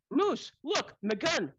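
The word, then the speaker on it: Mooselookmeguntic: Look, it's okay if you separate it out. It's moose. Look, maguntic.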